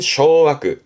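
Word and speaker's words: 掌握: 발음은 쇼아크, 쇼아크.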